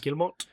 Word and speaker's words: Guillemot: Guillemot.